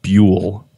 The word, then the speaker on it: Buell: supremely satisfying about saying your last name Buhl Oh No yeah you did pronounce it right a lot of people butchered my last name but you did pronounce it correctly what how do they